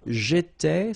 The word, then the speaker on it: étais: J'étais, so final S not pronounced.